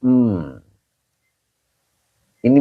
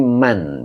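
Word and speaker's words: مَن: ini adalah istinf m ini Man bukan Wamin ya ini Man bacanya Pak ya oke n mananya Isim syarat sebagai mubtada begitu Pak rusti ya Oke Pak rusti jadi mannya Isim syarat Pak bukan Min ya kalau min itu huruf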